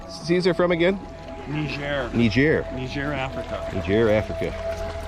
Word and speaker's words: Niger: Niger Africa. Niger Africa. They say Niger to differentiate from Nigeria, the hard G.